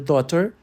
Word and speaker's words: daughter: Olhe para a palavra daughter. O GH é mudo.